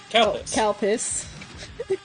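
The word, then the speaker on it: Calpis: Calpus. Calpus. It's It's got an L. It's spelled C A L P I S.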